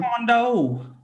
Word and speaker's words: Taekwondo: Taekwondo. And Why'd that's you good. say it like that? That's how it's pronounced.